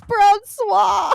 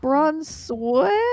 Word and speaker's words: Bronsua: have like I've heard people that be like Bronsua. I'm like just like no, Bronsua. I'm like no, it's Bronsua.